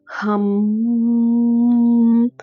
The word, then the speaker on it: ஹம்: இந்த ஹம் அப்படின்ற மந்திரத்தை நீங்க எப்படி உச்சரிக்கணும் அப்படின்னா ஹம். இந்த மாதிரி நீண்டு ஓம் எப்படி உச்சரிப்போமோ அதே மாதிரி ஹம் அப்படின்ற மந்திரத்தை நீங்க உச்சரிக்கணும்.